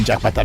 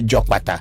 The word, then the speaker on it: Jokpata: That's why I was saying it's not Jakpata, because there is a similarity in the pronunciation of the name. It looks the same, like you say Jokpata, but somebody may understood it as Jakpata, because the common name Jakpata is also there.